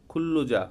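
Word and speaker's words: 근로자: ওয়াইসা ওয়ান কোম্পানির কর্মচারী খুল্লুজা খুল্লুজা হচ্ছে শ্রমিক আমরা এখানে খুল্লু খুল্লুজা পড়ি নাই এখানে খুল্লুজা পড়ি নাই কেন নিয়ন বাচ্চিমের পরে যদি লিওল আসে তাহলে এটা ল উচ্চারণ হয় তাহলে হবে খুল্লুজা খুল্লুজা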